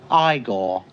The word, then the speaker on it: Igor: No, it's pronounced Igore. But they told me it was Eigor. Well, they were wrong then, weren't they?